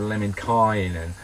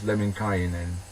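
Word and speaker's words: Lemminkäinen: So it's we would say kind of Lemminkainen, but it's actually not. It's all equal. It's Lemminkainen, and every syllable and every consonant is pronounced.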